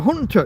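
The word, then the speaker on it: junta: The Hunter part is uh together.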